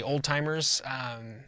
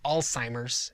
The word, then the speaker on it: Alzheimer's: its onset alzheimer disease i've heard people mispronounce this they say old-timers it's alzheimer's and it's named after